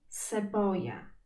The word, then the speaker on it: cebolla: I pamiętaj, że podwójne L czytamy jak J, czyli cebolla.